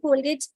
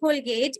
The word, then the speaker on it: Colgate: Because when we hear the word Colgate, E is silent.